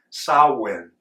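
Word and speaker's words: Samhain: But Halloween is coming from a Celtic tradition called sawin. It's spelled s a m h a i n but not pronounced that way.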